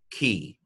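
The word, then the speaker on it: כי: So this is pronounced ki, which means for.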